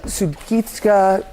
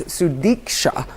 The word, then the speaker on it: Sudiksha: that still show uh sudit konaki sorry I said her name wrong it's sudika um with her friends